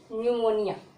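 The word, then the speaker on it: pneumonia: न्यूमोनिया, okay.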